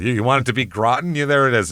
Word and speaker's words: Groton: It's Groten, Massachusetts. So I or Graten, however you want to say it's I know it's Groten, but I don't know